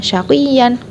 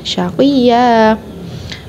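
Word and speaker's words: شَقِيًّا: Jadi bukan syaqiyan melainkan syaqiyya.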